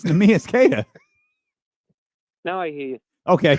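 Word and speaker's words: Neemias Queta: Boston backs up how you say his name me is kada yeah yeah k right kada almost almost it's I don't know can he not hear me it's nus kada now I hear you okay all right thanks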